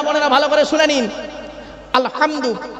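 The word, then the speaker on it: الحمد لله: আলহামদু। এ গলার ভর থেকে হেটা উচ্চারণ করবেন।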